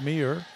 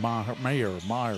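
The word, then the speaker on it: Meagher: I think he's saying Meir or something. It's spelled really funny. M-E-A-G-H-E-R.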